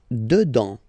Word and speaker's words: dedans: Dedans. Final S not pronounced.